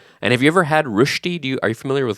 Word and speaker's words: Rösti: And have you ever had rushti? Are you familiar with rushti?